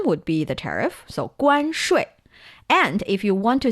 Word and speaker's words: 关税: 关税. Perfect. Again, this is 关, that's the first tone. 税 is the fourth tone.